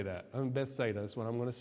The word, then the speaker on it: Bethsaida: The actual pronunciation of this is Bethsaida. I'm not going to say that. Bethsaida is what I'm going to say.